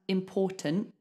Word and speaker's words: important: to make the sound important but don't release the T don't say important say important get your tongue in the right position but don't release it okay so we're going